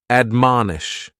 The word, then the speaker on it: admonish: The first word is to admonish. And admonish has three syllables and the stress is on that second syllable. Man, admonish.